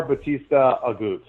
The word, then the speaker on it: Bautista Agut: Bautista Agut.